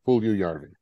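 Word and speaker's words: Puljujärvi: name is yes so there is that second you in there pool view yarn okay good uh then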